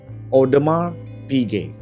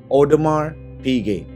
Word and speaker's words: Audemars Piguet: Ternyata cara baca yang benar adalah Audemars Piguet. Gue ulang, Audemars Piguet. Gua gak tahu gua pronounce-nya bener banget apa enggak, cuma gua coba sedekat mungkin kurang lebih seperti itu.